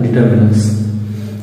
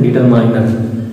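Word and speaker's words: determiner: जैसे मैंने बहुत से लोगों को देखा है कहते हुए कि इसको डिटरमिनर न पढ़ते क्या पढ़ते हैं? डिटरमाइनर।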